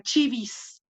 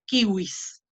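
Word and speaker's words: civis: el ciudadano en singular ciudadano era chivis, perdón, a veces a veces me confundo y pronuncio, acabo de terminar el curso en la Pontificia y la pronunciación que se hace ahí o la que tengo que hacer ahí es la eclesiástica, yo voy a volver ya cambié mi chip, entonces kiwis, ¿no?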